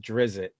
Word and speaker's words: Drizzt: really a thrill we had four years we pronounced that Drizzt I talked to the the aridity uh everyone